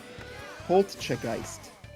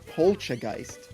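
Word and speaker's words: Poltchageist: There's a T in there. Pchegeist. It's not polgeist. Yeah, like poltergeist plus chai tea.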